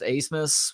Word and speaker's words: Abmas: Has somebody found out why Max's last name is pronounced Asmus when there's no S that's the second letter? There's a B that's the second letter of his last name. Yeah, Abmas. How do you get Asmus from that?